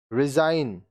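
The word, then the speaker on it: resign: अब देखिए ये जो अब वर्ड्स हम लोग पढ़ेंगे इसमें जी साइलेंट होगा। साइन, चिन्ह, साइन, चिन्ह। डिजाइन, रचना, डिजाइन, रचना। रिजाइन, इस्तीफा देना, रिजाइन, इस्तीफा देना।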